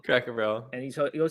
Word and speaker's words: Cracker Barrel: and I'm beginning to learn yours with a Crackle Barrel Cracker Barrel and he's gonna say all these instead of